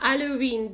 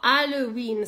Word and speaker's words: Halloween: Напомню вам, что буква H, Х, которая H во французском языке не произносится ни при каких обстоятельствах. Да, поэтому французы называют этот праздник, ну, выговаривают слово Halloween сразу на букву А.